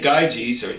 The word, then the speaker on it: Gyges: Now, when we say Gyges, and we spell it G-Y-G-E, really that Y in there is... That's good. It's more like an umlauted U. Like if you see German, U with two dots over it, you're supposed to umlaut it.